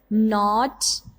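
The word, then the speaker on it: knot: So first of all, for example, not, knife and knee. These are the words. Here is the K is a silent letter.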